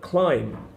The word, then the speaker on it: climb: for example the word climb climbed down here has a B on the end but we don't pronounce the B we don't say the